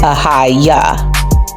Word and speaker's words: Ahijah: But as we all know, the J was not on the tip of nobody's lips back in the day, so his name actually would be pronounced Ahijah.